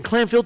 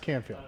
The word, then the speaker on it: Canfield: We've been around about almost So you're based in Clanfield too? It's pronounced Canfield.